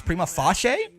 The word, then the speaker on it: prima facie: Google says it's prima facie. Prima facie. You didn't put, like, actual things that are unambiguous in their pronunciation in your spelling, and now I'm back to not knowing what you said.